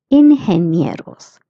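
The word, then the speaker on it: ingenieros: G E is pronounced as he that's why it's inheros.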